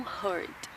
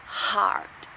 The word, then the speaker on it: heart: Eu ouço algumas pessoas confundindo a pronúncia de coração, que é heart, e machucar, o verbo hurt. Algumas pessoas, quando vão falar coração, falam hurt, mas é heart. E o verbo machucar é hurt.